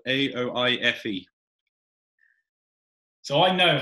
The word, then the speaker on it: Aoife: Yeah, it's Aoife. Aoife. I'm so glad it's not Weef.